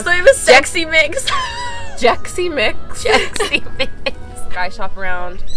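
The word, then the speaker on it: Xexymix: It's not pronounced Sexy Mix. It's I always thought it was Sexy Mix. Jexy Mix.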